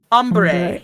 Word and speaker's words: ombre: Ombre. Ombre. Umbre. It It is pronounced umber, but like it's spelled ombre.